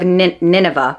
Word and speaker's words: Nineveh: Head of the Zarith family and ruler of Nineveh. Oh, it's Nineveh. It's not Na.